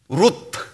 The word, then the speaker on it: 룻: 룻, 롯, 룻 발음이 다르죠. 롯, 오, 룻, 우 방향이 정반대예요.